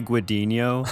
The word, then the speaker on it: Guadagnino: name uh guad see I think the GN just becomes like a n Sound yeah so that's what